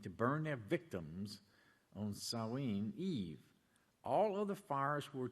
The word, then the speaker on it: Samhain: And from the Standard Encyclopedia of Folklore, Mythology, and Legend, we read this information about Samain, okay, or pronounced Samhain.